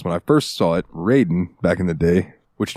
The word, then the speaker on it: Raiden: tomato I'll never know in the Sega Genesis version of Mortal Kombat they spelled it Raiden like r a y Den in a couple of the games to help with the pronunciation um ryen this dick